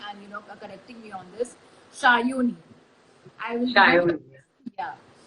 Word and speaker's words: Sayani: help me with the pronunciation of your name because sometimes people pronounce your name as Sayani, but your name is Shayoni, I believe.